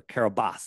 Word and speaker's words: Kiribati: sandbar in the middle of the ocean called Kiribati, or Kiribati, it's pronounced, right?